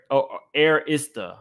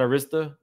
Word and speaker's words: Arista: um kayn 917 said love you Ms is pronounced air airista not Arista air is the I'll try to remember that